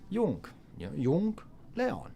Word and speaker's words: Yung Lean: and J's are are wise in most languages. So, Yong Leon, that's how you'd say his name. Yonathan, that's how you'd say it.